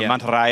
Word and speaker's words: Mantarraya: So Mantarraya is a little bit easier. I feel like that's good enough. Yeah, it's good. Yeah. Like, it's actually how it's said in many parts of the world that speak Spanish. It's only like the deep South American where they turn the Y into an SH sound.